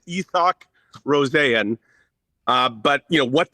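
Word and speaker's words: Isak Rosén: It's sort of like Yoel Arma. Um, so it's not Isaac Rosen as much as some people might want to say that. It's EOC Rosanne.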